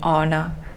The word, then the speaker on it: honor: ignored only some words you have this silent h for example in honor and in our honest